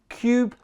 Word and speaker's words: Qube: at The Cooler Master Cube 500 and that's Cube spelled with a Q although when you think